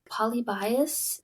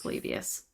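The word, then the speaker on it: Polybius: had to watch a video to get the pronunciation. I was like polyibbias. Yeah, that's what I would have said. Okay. Palibius.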